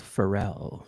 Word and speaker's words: Feral: It's French. It's pronounced Pharrell.